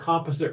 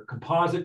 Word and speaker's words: composite: A number that's not prime is called, depending on where you grew up, it's either called composite or composite, depending on how you pronounce that word. Both are fine.